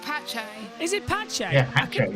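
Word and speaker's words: Pace: of this broadcast, Josh, you called it Autodromo Jose Carlos Palace. Yeah. And I was thinking, no, that's Caesar's Palace. That's next time. It's pronounced Pache.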